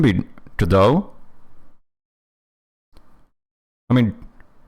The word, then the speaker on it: Godot: Because if it's a French pronunciation, we can definitely know one thing, which is that there's no way you're supposed to pronounce the T at the end.